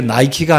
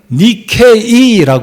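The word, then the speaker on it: Nike: 있잖아요 근데이 나이키라는 신은 본래 나이키가 아니라 발음이 좀 바뀐 거예요 영어로는 n 나이라고 읽잖아요네 원래이 그리스에서는 니케이라고 그래야 돼요 니케이 그래서 누군가 이제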